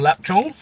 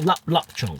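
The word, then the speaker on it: lap cheong: some Chinese sausage or lap Chong lap Chong lap chong laap chong I think it is pronounced l u p but it's spelled l a p let's go three I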